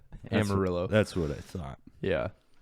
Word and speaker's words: Amarillo: Traveling through, I always say it wrong. Armadillo. Armadillo. Armadillo. Amarillo.